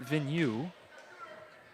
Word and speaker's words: Vigneault: And it'll go against Vigneault. Vigneault, as I had one of our Bulldog filmers here from the JV squad. She informed me earlier how to pronounce that, Vigneault.